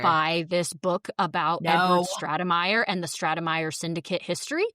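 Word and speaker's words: Stratemeyer: I'm just glad you heard them say the name Stratamire because yeah, from the spelling I would not have I would never have added that middle syllable.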